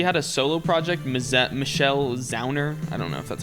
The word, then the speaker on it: Zauner: Honestly, she had a solo project, Michelle Zauner. I don't know if that's how you pronounce it. Is that her name? Zauner.